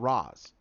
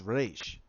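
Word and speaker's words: Ra's al Ghul: our ghoul it's not it's not it's not Ross I'm sorry it's not Ross its Rach it's Arabic in there is no I'm sorry it's Rach our goal so but that's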